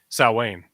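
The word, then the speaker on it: Samhain: Saw Wayne.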